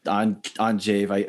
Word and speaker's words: Andrzej: And your roommate during that time at the festival was this dude from Poland who his name was also Andrew, but the Polish pronunciation Andrzej, I don't know how to Killer piano player.